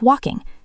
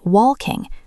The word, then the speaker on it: walking: Notice the pronunciation of walking. The L is silent. We do not say wall king.